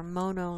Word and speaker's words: Mono: Nothing at Mono Lake or Mono Lake, that's how they say it.